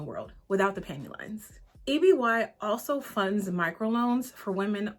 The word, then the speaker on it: EBY: Let's talk about a brand called EBY, but it's actually pronounced EB. EBY stands for Empowered by You, but is pronounced EB.